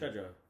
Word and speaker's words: Trejo: Trejo. Yeah. Trejo.